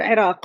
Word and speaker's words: Iraq: So yes, so the good thing about Iraq was or Iraq, which is the the real way you pronounce it, um it opened all